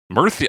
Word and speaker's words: Murcia: I just realized Spanish pronunciation, Murcia. Murcia, it's a T-H sound.